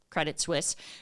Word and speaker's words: Credit Suisse: what they do but Credit Suisse is a ginormous Global Investment Bank and financial services firm okay and they're founded out of Switzerland thus credit Swiss right even though it's not spelled like that and so they are